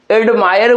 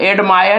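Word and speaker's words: admire: लेकिन एडमायर को भी हम लोग देख लेते हैं। एडमायर मेंकि दो क्या है आपका क्या है? दो सेलेबल है। एडमायर यानी कि एक दो।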